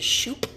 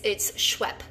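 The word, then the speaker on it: Schuepp: So everyone says Mrs. Shoop, or they'll be like Mrs. So yeah, it's Schwepp. Like there's actually a soda like Schweppes, you know what I mean?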